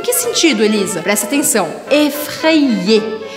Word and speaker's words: effrayé: Eu faço a matemática das letras juntando o A com o suposto primeiro I, então effré, e eu pronuncio o segundo I, ou seja, que eu falo effré-i-e, effrayé, effrayé.